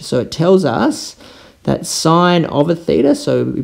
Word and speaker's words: sin: sine function okay so it's written in your calculator and sin but we pronounce it sine so if we think